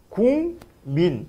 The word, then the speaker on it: 국민: 지는 거에요 우리의 알다시피 국민 이라는 단어가 있는데 이걸 바람을 해보면 국민 이렇게 발음을 하거든 그러면 봞 원래는 기억이라는